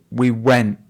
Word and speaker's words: went: And I heard her say, we went. And that would be an example of a glottal stop.